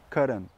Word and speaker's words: cotton: Vous voyez, pensez à toujours comme l'électrocardiogramme, vous savez, la prononciation des mots en anglais, l'accent tonique, toujours sur la première syllabe ou presque toujours. Donc pensez à l'électrocardiogramme, cotton, vous voyez, cotton, et hop, après ça devient plus plat.